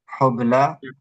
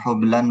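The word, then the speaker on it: حبلى: Hubla itu dari fu'la, artinya wanita yang hamil. Lalu zikra, zikra itu untuk contohnya fi'la, artinya peringatan. Jadi kita bacanya mardo, bukan mardon, bukan hublan, bukan zikron.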